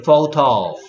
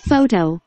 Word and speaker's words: photo: photo. photo. 그래서 또 ph가 뭐 됐고? f 됐고. o는 o. t는 t.